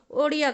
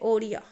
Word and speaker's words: ओडिया: 96वें संविधान संशोधन 2011 इसके तहत क्या हुआ, उड़िया भाषा था, पहले नाम इसका उड़िया था, उसका उच्चारण बदल कर अब ओडिया कर दिया गया। ठीक है, ओडिया।